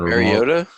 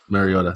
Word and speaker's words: Mariota: more I can't stand pronounce his name more Mariota Mariota thank you don't even exist I was I was drifting towards Motorola the motor rotor Rollo anyway especially since